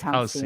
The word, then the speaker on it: halcyon: It is halcyon.